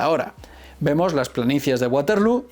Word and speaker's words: Waterloo: ¿Está bien representada la batalla de Waterloo? Sí y no. En primer lugar, decir que Waterloo es la manera inglesa de pronunciarlo. En holandés, que sería como habría que pronunciarlo, se diría Waterloo, lo que demuestra una